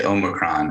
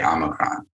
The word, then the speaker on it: omicron: I'm noticing that you say Omicron and I say Omicron. English-speaking languages have butchered the Greek alphabet pronunciation for many, many centuries.